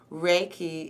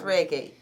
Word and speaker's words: Reiki: ahead what what is reik so yes you're saying it right it's Ray and key like a ray of sun and then a key to unlock something um it's a Japanese